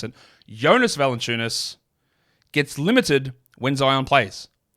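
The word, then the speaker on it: Jonas Valančiūnas: Because what happened in this game, and we have seen this pattern time and time again, is Jonas Valanciunas, that's not how you pronounce it, Jonas Valanciunas gets limited when Zion plays.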